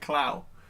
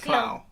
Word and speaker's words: Klaue: His name was spelled like Clow. When I had subtitles, it said it was Klaue. Ulysses Clow. Klaue. Which looks German like Clow. Oh, Claw. Oh, yeah. But I thought it was W.